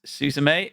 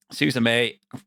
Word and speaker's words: Suzume: Is it not Suzume? Suzume? No, it's because the little creature in it calls her. It goes Suzume.